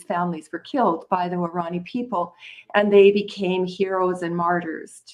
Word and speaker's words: Guarani: This is your fourth novel, which is a fictionalized account of how evangelicals descended on the, am I going to pronounce this right, Guarani?